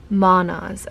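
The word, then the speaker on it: Mannaz: So in the book it says, also the pronunciation is manas.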